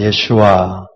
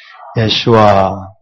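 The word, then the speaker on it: ישוע: 뭐라 그러죠 예슈아서 예슈아이 원래 이름입니다 우 주님의 예슈아 그래서이 발음에 우리가 익숙해질 필요가 있습니다 다시 합시다 예슈아 예슈아 그리스도 그리스도는 헬라어에서 온 것입니다 헬라어에서 온 것이고요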